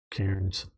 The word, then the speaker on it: Cairns: Cairns. Thank you, Jugtron. Probably mispronouncing that too, but most of us Aussie names are like that.